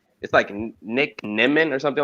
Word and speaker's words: Nimmin: Yeah, it is Nimmin. It's Nimmin.